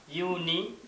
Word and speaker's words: unicorn: So while you pronounce this word, then it sounds like unicorn.